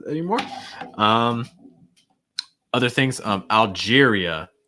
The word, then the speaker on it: Algeria: things um algeria algeria it's like algier that's your first half and then the second part is going to have two parts algeria algeria algeria also making sure that at the end that sound is really clear it's not er or like ah it's more uh uh algeria okay uh my lange